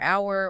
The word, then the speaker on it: hour: Well, we also have the sneaky B, H, and P. Sneaky. They pop up in places like doubt or hour or psychology.